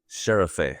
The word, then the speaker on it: Şerefe: That would be that letter S with a dot at the end would be a she. But let's say S, it's an S essentially.